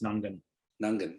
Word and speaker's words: Mount Nungan: going to roll with nungan nungan i'm going to say this the first g so ng that g is silent i i think it's nungan nungan okay mount nungan lookout